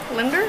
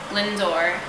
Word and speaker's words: Lindor: Linder? How do you say it? Lindor. Lindor. I said that.